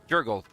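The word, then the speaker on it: Jergal: that OCD in me so I finally got a pronunciation for jural not jural not your gal or Jal it's Jurg also I'm getting voices of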